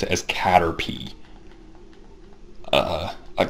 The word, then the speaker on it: Caterpie: as Caterpie uh I I know it's pronounced Caterpie because I've seen clips of the show I've never actually seen a full episode of the show and I I know they pronounce it as Caterpie but I remember kids